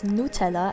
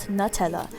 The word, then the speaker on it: Nutella: to bring it up the proper pronunciation is Nutella and not Nutella I've actually linked an